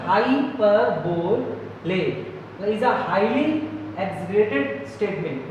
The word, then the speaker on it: hyperbole: हाइपरबोल pronounced hyperbole is a highly exaggerated statement.